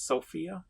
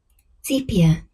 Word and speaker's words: sepia: It's Sophia, is it? Sophia? How do you pronounce that? Sepia.